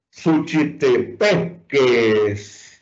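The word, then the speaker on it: Suchitepéquez: Suchitepeques. ¿Dónde está la sílaba tónica? P, la penúltima sílaba.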